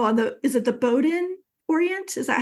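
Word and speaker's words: Bowdoin: read the article on the is it the Bowden Orient is that how you pronounce it yeah yeah so bowden's a school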